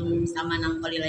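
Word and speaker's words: ثمنا قليلا: Samanang qalila itu agak-agak dilamakan Bu Iva ya. Samanang qalila. Itu enak Bu dibacanya ya. Samanang qalila ya, jadi tidak samanang qalila. Jadi agak dilamakan, dengung ya.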